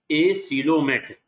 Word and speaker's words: acoelomate: Pronounce करना है एसिलोमेट, ACOELOMATE।